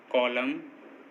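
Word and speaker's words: column: किसी वर्ड में एम और एन दोनों साथ में आएँ तो, किसी वर्ड में एम और एन दोनों साथ में आएँ तो एम और एन में एन साइलेंट होता है। जैसे ऑटम, कॉलम, डैम, हाइम, इन सभी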